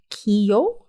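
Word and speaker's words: Keough: I I loved the harder Edge that Riley Keo that's how you say her name I love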